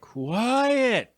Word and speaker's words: QU!ET: So it's QU exclamation point ET. Is that right? Yeah. So I'm supposed to say it like quiet.